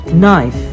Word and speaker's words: knife: to letter K if the letter K is not pronounced when it comes before the letter n for example knife no mean knock not